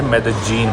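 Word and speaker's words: Medellín: लीन है तो ना जो कोलंबन स्पैनिश है उसमें य को या ज बोलते हैं जैसे मेक्सिको में यो बोलेंगे इधर बोलेंगे जो इधर की स्पैनिश में इसे मेद जीन प्रोनाउंस करते हैं।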